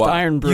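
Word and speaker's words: Irn-Bru: What if I were to give you all the in brew you could drink? Oh my. All the vape juice It's pronounced iron brew.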